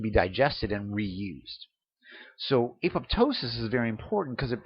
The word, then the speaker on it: apoptosis: it's called apoptosis now it can be pronounced either aptosis or apoptosis and apoptosis is generally the accepted term um in america it's